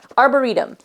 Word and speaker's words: Arboretum: So this one is Arboretum. Is that how you say it? Arboretum. Yep, Arboretum.